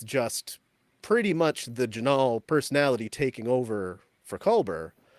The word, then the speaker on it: Jinaal: so many times that I wrote it down phonetically so I would remember that his name is janal I I'm gonna just start with the most